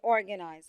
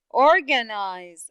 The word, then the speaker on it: organize: in this word in organize how many syllables you felt that was heard in a long way very good one syllable which is the second syllable right there yes organize okay organize how about